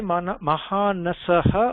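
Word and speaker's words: महानस: Sanjay, did you say Mahanasaha or Mahanasa? So here I am writing Mahanasa. I mean, yes, Mahanasa.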